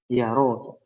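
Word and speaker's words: يرى: Yaro ya. Yang betul yaro bukan yuro ya. yaro. Kalau yuro majhul nanti.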